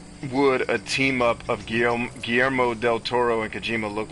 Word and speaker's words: Guillermo: say that name guillermo let me actually say it in spanish instead of like a gringo because then i can pronounce it guillermo um it wasn't he